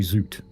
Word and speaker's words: Süd: So the thing I've been pronouncing Sud all this time is actually Zoot.